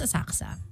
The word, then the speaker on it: Asakusa: Asakusa. Asakusa. Asakusa. K-U-S-A. But it's pronounced Asaksa.